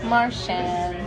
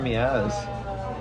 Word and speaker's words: Miaz: this is I'm Cara how do you say your last name Maran Maran why is it Carry Me ass I wish I could